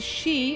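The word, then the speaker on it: sidhe: without the tea because the she as it's pronounced is s-i-d-h-e hmm so my all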